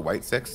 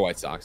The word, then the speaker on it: White Sox: Is it the White Six? And I've just been saying it wrong the entire time? No, it's the White Sox.